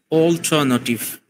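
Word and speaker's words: alternative: similar pronunciation is অল্টারনেটিভ এখানে আমাদেরকে তার উপর একটু স্ট্রেস দিতে হবে সামনে যেহেতু এখানে যে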